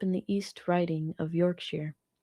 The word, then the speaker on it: Yorkshire: When I was a kid, I grew up in the East Riding of Yorkshire. That's pronounced "sure". Not "shire".